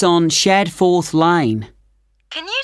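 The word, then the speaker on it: Shadforth: did you get the address of kangaroo lodge yes it's on shad fourth lane can you spell that s h a d f o r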